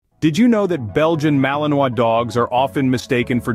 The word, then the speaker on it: Malinois: The Belgian Malinois, pronounced Malinois, is a breed that's often misunderstood and mistaken for its German cousin.